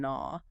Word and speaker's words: gnaw: And you see a similar anatomical simplification in words like knife, knight, and gnaw. With the silent K and G. Yes. Hundreds of years ago, the initial K and G in those words were fully pronounced.